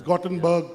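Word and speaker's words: Göteborg: City to you it's a city called gotebok the second most popular city of Sweden it's called YouTube they call it cotton it's gottenberg got a bug you know different pronunciation and it's almost picture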